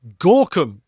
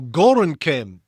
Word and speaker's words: Gorinchem: So they recently moved their headquarters to Gorkum or Gorinchem. It's pronounced both ways, apparently, in the Netherlands.